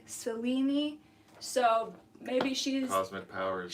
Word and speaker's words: Selene: Selene, spelled Selene, but I believe pronounced Selene, is the Greek goddess